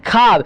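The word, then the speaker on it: خواب: उसी तरह बच्चों यहाँ पर वाव जो है ना, वाव साइलेंट रहता है। ख्वाहिश होती है बच्चों, ख्वाहिश नहीं ख्वाहिश। ख्वाजा नहीं खाजा, ख्वाब नहीं ख्वाब।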